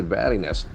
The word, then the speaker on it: wariness: Can say wariness, ness ending. Wariness. It's a beautiful pronunciation. Wariness. That A sound, like the state of or quality of being wary.